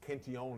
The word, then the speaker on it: Cantillon: In fact, a guy named Richard Cantillon, or Cantillon if you prefer the French pronunciation, who's sometimes considered, you